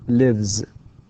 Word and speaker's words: lives: لاحظ كيف أنطقها هنا lives with z and runs.